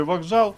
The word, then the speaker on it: вокзал: вже люди розумні і знаємо що в слові вокзал пишемо к але вимовляємо Ґ тож методом відкидання ми